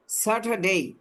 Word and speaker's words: Saturday: আসলে হচ্ছে স্যাটারডে, স্যাটারডে ওই যে Saturday, সংখ্যা বলছে, হ্যাঁ, যে ফোনেটিক্স এই অনুযায়ী এটা উচ্চারণগুলো হয়। স্যাটারডে শেষে এ ওয়াই থাকলে এই উচ্চারণ হয়, স্যাটারডে।